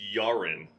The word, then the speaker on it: Jaren: I believe it's Finnish, and it's pronounced Jaren in the motherland.